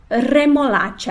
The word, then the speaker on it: remolacha: então repete lá primeiro é forte remolada de remolacha a e agora com r fraco repete lá